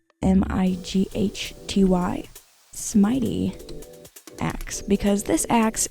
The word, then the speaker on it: Smighty: I think a pretty good name for it will be Smitey, spelled like mighty, so Smighty, Smitey axe, because this axe is very mighty and it has smite on it.